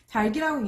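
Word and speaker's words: 닭이: 네, 이것의 발음은 달기입니다. 달기라고 있는 게 올바른 발음인데요. 자, 겹받침 리을 기역 뒤에 조사 이가 오니까 뒤 자음인 기역이 뒤 음절의 첫 소리로 옮겨갔죠.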